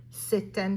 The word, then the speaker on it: c'est un: Normally I wouldn't pronounce that final T, but the article starts with a vowel, so I'm going to say that final T.